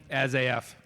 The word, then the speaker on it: Asaf: As-AF. As-AF Carney, yes, that's how you pronounce it.